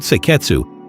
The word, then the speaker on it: seiketsu: The fourth is seiketsu, pronounced sei-ketsu. It translates roughly as standardization.